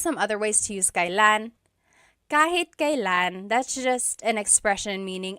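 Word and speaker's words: kailan: It's pronounced kylan. Kylan, but you will often hear it pronounced kalan.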